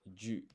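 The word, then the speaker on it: じゅ: And so this ji and yu, it's not actually pronounced ji and yu, it's a blended syllable pronounced ju.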